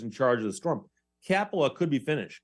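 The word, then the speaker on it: Kapala: charge of the storm capola could be finished k-a-p-a-l-a it looks like uh it would rhyme with Rapala r-a-p-a-l-a which is of course the company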